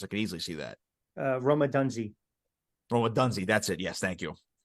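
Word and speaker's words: Rome Odunze: Roma Dunzi. That's it. Yes, thank you. Yeah, no problem. Forgot the pronunciation right there.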